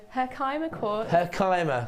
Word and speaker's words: Herkimer: What's the most interesting thing you know about Herkma Quartz Hannah Osprey her quartz is by Say it again Herkimer Thanks Now I know how to say it